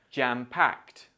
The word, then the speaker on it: jam-packed: this phrase together and remember this ed sound sounds like T because Pack ends in a C Sound jam-packed perfect on a shoestring